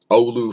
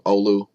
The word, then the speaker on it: Oulu: some data also and last but not least oulu finland and by the way thanks ola for teaching me how to pronounce the word Oulu i appreciate that and